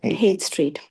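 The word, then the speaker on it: Haight: How do you pronounce it? 8 Street. Hate street.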